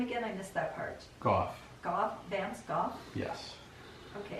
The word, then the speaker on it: Gough: Gough. Gough? Vance Gough? Yes. Okay, and that's spelled G-O-F-F?